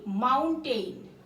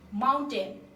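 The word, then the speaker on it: mountain: ম্যাপ মানে হচ্ছে মানচিত্র এটাকে আমরা অনেকে উচ্চারণ করি মাউন্টেইন কিন্তু আসলে এটার উচ্চারণ মাউন্টেইন না মাউন্টেন কি মাউন্টেন এম ও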